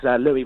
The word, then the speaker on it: Louis: fair play, but it's Louis with the soft S, so you could actually mispronounce it as Lewis.